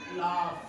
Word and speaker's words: laugh: तो यहाँ पे एंडिंग में है, इसीलिए उसको उच्चारण या उनकी जो आवाज है, प्रोनाउंसिएशन कह सकते हैं, उसको साउंड जो है उच्चारण को करेंगे फ होगा।